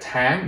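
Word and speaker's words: tháng: at is that again you have to say this in a higher tone otherwise the word has a different meaning so like i said tang means month now i'm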